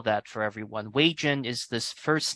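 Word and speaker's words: Wejen: Wei-Jin is this first name. In Chinese, we pronounce it Wei-Rin, but it's romanized as Wei-Jin.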